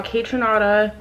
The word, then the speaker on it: Kaytranada: it's Coachella okay so day one we saw kaytranada hey tranada right you said it right did